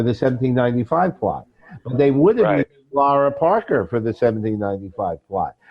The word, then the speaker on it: Laura: Laura Parker who was I always have to remember to pronounce her name Laura my Brooklyn accent gives me Lera but it's really that and she was an